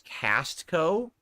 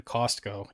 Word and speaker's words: Costco: chat joke about how you pronounce Costco as castco I say Costco always cost people don't say the T in Costco in Costco say Costco Costco not castco it's Costco like a